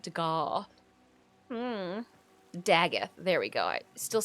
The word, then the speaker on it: Dagath: Daggeth, there we go.